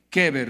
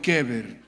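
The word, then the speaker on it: קבר: Keber, no es Eber, sino Keber. No vaya a decir a alguien que se llama Keber, tú eres el sepulcro. Es Keber, en hebreo.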